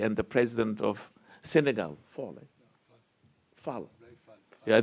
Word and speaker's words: Fall: A lot of time was spent yesterday by Fauzi and the president of Senegal, Fall. Yeah, they pronounce his name as Fall. I say Fall, it's F-A-L-L.